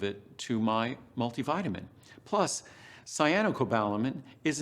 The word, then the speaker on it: cyanocobalamin: market, is something called cyanocobalamin. Cyanocobalamin, cyano sounds like the word cyanide, and cyanide, most of us know, is a poison.